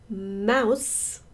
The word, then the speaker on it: mouse: Mouse, mouse, mouse. 쓰 발음하세요.